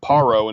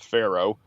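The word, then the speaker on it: פרעה: the the hebrew um in the modern hebrew it's paro instead of pharaoh and that actually corresponds with the egyptian pronunciation is a pa instead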